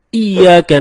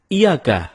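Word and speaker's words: إِيَّاكَ: nabudu wa iyyaka nasta'in ada yang membacanya dengan Iyakah tidak menekan huruf Ia seperti seperti sebagaimana kita jelaskan tadi bahwa penekanan itu dapat merubah makna kalau kita baca iyakanakbudu dengan menekan huruf ya maka artinya menjadi kepadamu lah kami menyembah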